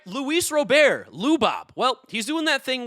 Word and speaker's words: Luis Robert: Don't correct me and say his name is Luis Robert. That's what the announcers say, guys. He's from Cuba. There's no way his name is Luis Robert. That's not how Latinos speak.